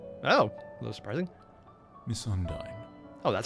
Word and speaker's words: Undyne: Miss Undyne. Oh, that's how you say it? Undyne?